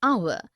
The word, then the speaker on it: hour: air an honest an hour because the words air honest and our begin with the vowel sound as the initial consonant h is not pronounced article 1 we use